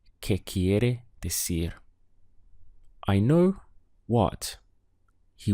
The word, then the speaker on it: quiere: the word is quiere we have two main syllables here first of all key followed by area so the sound is quiere what's the verb to